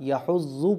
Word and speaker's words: يَحُضُّ: عل، یدعُ الیتیم۔ آگے دیکھیے، وَلَا يَحُضُّ عَلَىٰ، يَحُضُّ پڑھا جائے گا، یا زبر یا، حا ضاد پیش حض، یحض ضاد پیش زو، یحض، ٹھیک ہے۔ وَلَا يَحُضُّ عَلَىٰ، عین زبر عین لام کھڑا زبر لا،